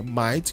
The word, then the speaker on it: might: dica importante de pronúncia quando tiver i g HT a pronúncia do i vai ser I então por exemplo temos a palavra night que é noite a palavra Might que vocês estão aprendendo